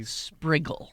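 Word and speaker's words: Sprigle: was drunk it race spriggle s p r i g l e spriggle rhymes with wiggle as Time Magazine wrote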